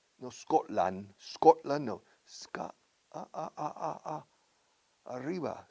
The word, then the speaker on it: Scotland: No Scotland, no. Arriba, Scotland. Y la T no se pronuncia.